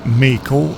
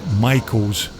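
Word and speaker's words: Maico: Jimmy's riding a 490 Michael, or Mako if you pronounce it that way in the USA, but we tend to call them Michaels here in Scotland.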